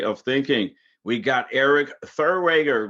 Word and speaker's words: Therwanger: an accurate way of thinking we got Eric Thor rager right did I say It Right Thurr we